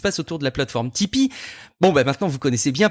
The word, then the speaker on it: Tipeee: C'est ce qui se passe autour de la plateforme Tipeee.